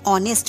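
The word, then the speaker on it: honest: एन ऑनेस्ट मैन, यहाँ पर H silent होता है.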